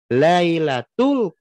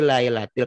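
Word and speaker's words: لَيْلَةِ: Inna anzalnahu fi lailatul qadr. Teman saya semakin kuat tul gitu bacanya bukan fil lailatul. Fililatil makin kuat. Oh dia sudahudah sadar. Fi lailatil qad. Diulangi inna anzalnahu fi lailatil qadr. Benar. Nah ayat keduanya w adrokama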